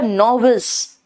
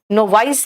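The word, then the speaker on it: novice: बेटा नोविस, नोवाइस नहीं कहना, इसका प्रोनाउंसिएशन है नोविस।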